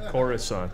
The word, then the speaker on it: Coruscant: Ah, Coruscant.